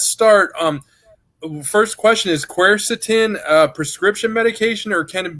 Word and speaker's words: quercetin: say it I I've heard that you actually pronounced the right quercetin and I used to call it cursed Eden but nobody ever says that you just order